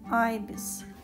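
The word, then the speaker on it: ibis: Айбис. Ибис по-русски. По-английски произносится айбис.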